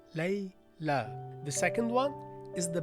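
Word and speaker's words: ليلى: You see, it's not layli because it's not ya at the end. It's alif maqsoora. It's pronounced lay la.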